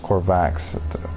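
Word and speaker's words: Korvax: a corvex entity corvax technically it should be pronounced corvax entity I am but I might just call the core vixx I met on that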